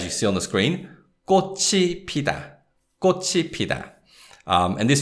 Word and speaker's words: 꽃이: And because we have 이, the particle, the sound of 치읓 links with that syllable. So we say 꽃이, 꽃이, right?